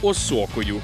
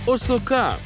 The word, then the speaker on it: осока: й сам називав її осокою а правильно буде усе ж осока осока Я думаю осока осока що осока осока зафіксували у слові осока наголос на останній звук осока тепер переходимо до вивчення